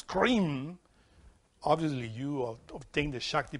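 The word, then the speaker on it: Krim: in Sanskrit there is a mantra that you pronounce when you eat is k-r-i-m cream in order to take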